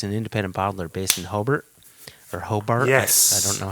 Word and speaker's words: Hobart: cult IB it's an independent botler based in hobbert or Hobart I don't know how they would pronounce that yes Hobart Hobart and then finally old Kempton out of